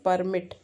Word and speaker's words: permit: So here your focus is on permit. That's a stress on first part, permit.